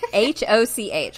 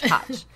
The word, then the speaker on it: Hoch: H-O-C-H, Hoch. So, but yeah, it's pronounced Hoch.